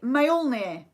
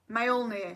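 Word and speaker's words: Mjölnir: 8 what is Thor's hammer called it's the male near male near so I'm gonna spell that for you so it's MJ o L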